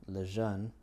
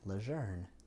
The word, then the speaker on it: Lejeune: the Cajun and so my last name became the Cajun pronunciation of a French name and leun is how I believe it was originally pronounced kind of either evolved or uh de evolved maybe into uh leer so when people ask